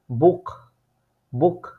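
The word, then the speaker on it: Buch: ইউ এ ও ইউ এই তিনটা আলফাবেটের পরে যদি সেহা বসে তাহলে সবসময় এটার উচ্চারণটা হয় খ এর মত যেমন এইখানে দেখেন বে এর পরে উ আছে সেহার আগে এই উটা থাকার কারণে সেহার উচ্চারণটা হইছে বুক বুক ঠিক আছে এবং এই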